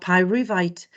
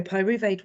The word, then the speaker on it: pyruvate: remember that we had pyruvite sorry pyruvate was made at the